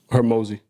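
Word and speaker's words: Hormozi: Hermosi.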